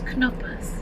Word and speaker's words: Knoppers: It's Knuppas. Oh, Knuppas! Knuppas. Yes, Kirsten is from Germany. She would know the proper pronunciation.